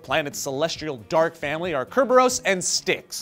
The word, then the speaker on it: Kerberos: celestial dark family are Kerberos and Styx. Now, Kerberos is the Greek pronunciation and spelling of Cerberus, the hellhound that guarded